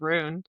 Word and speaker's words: Rune: I don't know why I wanna call him Run right now, and I know it's Rune, It's but rude.